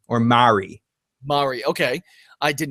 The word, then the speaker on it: Mari: I think her name is Marie or Mari.